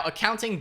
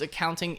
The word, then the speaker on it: Akaunting: As you can see here, it is spelled a little bit differently, so I guess you would still pronounce it as accounting.